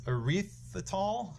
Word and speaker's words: erythritol: It is erythritol, I believe is how you pronounce it.